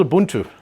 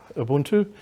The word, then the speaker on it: Ubuntu: It is one that I'm getting Jeff warmed up to the pronunciation thereof. It's called Ubuntu. Ubuntu, U-B-U-N-T-U.